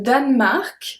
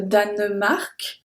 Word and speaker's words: Danemark: Le Danemark, so we don't pronounce the E in the middle if you listen well. Le Danemark, we don't say le Danemark, we say le Danemark, est un pays européen.